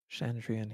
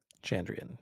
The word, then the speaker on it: Chandrian: Shandrian he is Shandrian here will always be. You said Chandrian. Chandrian. Yes.